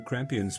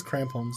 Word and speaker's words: crampons: the Crampians might be useful. I think they all Did might be I useful. pronounce it correctly? It says crampons.